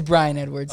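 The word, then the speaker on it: Bryan Edwards: Yeah, it's Brian Edwards.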